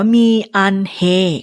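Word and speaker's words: 미안해: โว คอง มี คำ นี้ ออก เสียง ว่า มี อันเฮ ก็ ได้ มี ก็ ได้ นะ มี ขอ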